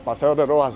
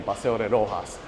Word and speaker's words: Paseo de Roxas: see what's happening in Paseo de Roxas. Funny cuz they write it with an X, but they pronounce it like if it's for for J, Roxas.